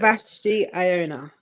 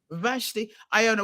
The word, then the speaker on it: Vashti-Iona: Please pronounce your name properly so I know how to say it. Vashti-Iona. Vashti-Iona.